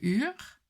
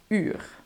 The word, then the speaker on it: uur: It's the pronunciation of u in words like uur. The u is not the same as the oe sound. The oe sound is a different sound that we want to avoid when pronouncing uur. How to make the u sound? The u sound starts with the I sound. I as in fiets, for instance. The U sound is basically an I sound, but then with rounded lips.